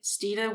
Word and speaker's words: Stine: actually deviates from christine so instead of saying my name is christine which it's not um you just say steeda which is the last part of christina and yeah just remove the cree so s-t-i-n-e would be my given name so